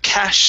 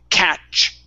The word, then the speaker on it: catch: so it's okay so instead of cash some fish it's catch catch try that good